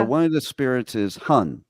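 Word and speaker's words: 魂: insightful okay so one of the spirits is Hun right that's how it's said hun okay H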